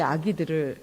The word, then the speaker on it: 악의: 여하튼이 단어를 읽을 때 표준 발음은 아기입니다. 아기. 그러나 우리의 아기들을 제가 봤을 때이 악이라고 할 수가 없어서 저 오늘 악의라고 하겠습니다. 표준 발음은 아기이지요.이 음성을 오염시키지 않고 싶어서